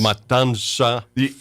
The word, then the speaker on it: Matanza: I would say is it's spelled Matanza. Yes. Matanza. For us gringos, we want to put that N before the T. That's and that's not. It's M-A-T.